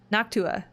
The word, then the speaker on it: Noctua: would install it improperly noctua that's how it's pronounced okay sorry uh i